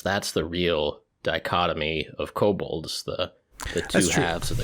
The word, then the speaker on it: kobold: rat person okay and according to wowpedia kobold is pronounced co bald cobalt bald ball now